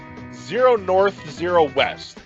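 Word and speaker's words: 0°N 0°W: what's the game um zero North Z West is how it's pronounced specifically it's like 0 de north 0 de West uh and it's it's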